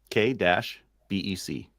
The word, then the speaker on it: Quebec: How are you supposed to say it properly? Quebec. Quebec. Quebec. K-BEC.